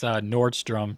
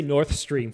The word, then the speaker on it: Nordstrom: It's Nordstrom, just like the store, I guess. Nordstrom. Oh. Nordstrom. I was going to say North Stream for some reason.